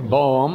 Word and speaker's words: balm: See, just exactly the opposite, only they're both pronounced pretty much the same way. One is balm and the other is bomb.